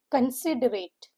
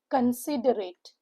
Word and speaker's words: considerate: The third word is considerate. Considerate. The parts of speech of the word is adjective. The syllable is broken into four parts. Conorate. The stress is given on the second syllable which is sit.